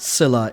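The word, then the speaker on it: Scylla: Elvie told me that it is pronounced pronounced Sila in English.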